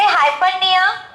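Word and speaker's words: hyperpnoea: अधिक हो, सामान्य से अधिक होती है, उसे हाइपरनिया, आधा पा लगाइएगा, पा यहाँ पे साइलेंट है।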